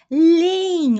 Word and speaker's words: leem: Os amigos leem, ó, a pronúncia aqui de duas E. A primeira eu repito, né? Leem, e depois eu coloco uma IN.